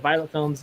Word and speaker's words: Violette Films: And it's Violette Films, and people pronounce it Violet Films. It's the French spelling pretty much of it.